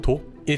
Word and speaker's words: 독일: 우리 가 이것 을 우리 만 의 방식 으로 발음 할 때 는 " 혼자 " 와 " 하나 " 를 뜻 하는 한자 를 사용 하여 " 도길 " 이라 고 발음 합니다 .